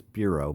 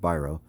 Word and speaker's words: Biro: says Charles byro and you might think that says Bureau but it's pronounced Biro Charles byro and Bob